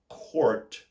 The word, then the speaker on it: court: for C Ur T Court pronounce a soft R court and the word